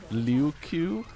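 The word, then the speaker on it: locus: as an i how by the way Loco is not actually pronounced like this the O's and Locos are actually different vowels in Latin I I you got I can't believe you guys have been mispronouncing Loco all this time it's actually lucu very embarrassing you've gotten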